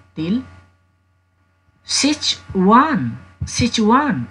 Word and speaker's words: Sichuan: attention in pronunciation say jamie please uh pronounce it correctly till sich one sichuan sichuan paper sichuan pepper sichuan pepper means timur or